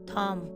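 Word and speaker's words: thumb: अगर किसी वर्ड में बी एम के बाद आता है तो बी साइलेंट होता है। फॉर एग्जाम्पल, बॉम, कॉम, थॉम, तो इसलिए ये साइलेंट है।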